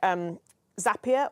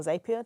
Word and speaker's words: Zapier: There are things like Zapier or Zapier, depending on how you pronounce it, which allows for trigger